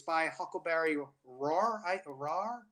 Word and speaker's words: Rahr: Rahr, I think, is how you pronounce her last name.